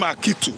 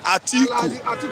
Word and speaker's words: Atiku: I they mispronounce him. Sometimes I call him Akitu. No, listen. Atiku.